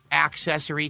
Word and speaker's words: accessory: Okay, tonight we're third week in a row where we're now using this wheel accessory, excuse me, accessory because if I don't pronounce the the hard uh you know C, people give me [